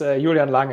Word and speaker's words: Julian Lange: um my name is julian lange actually so i'm a german national even though patrick pronounced it like i'm like i'm french but i guess spandesk